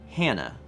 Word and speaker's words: Hanne: 300 bits from Summer Centris says, on the topic of Norwegian names pronunciation, my name is Hanne, pronounced Hannah. Interesting.